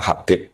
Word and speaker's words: Habib: Itu di harakatnya kitab itu ada yang nulis khubb. L yang benar. Oh, nggih. Yang benar itu bacanya Habib. Habib itu sulami itu ikut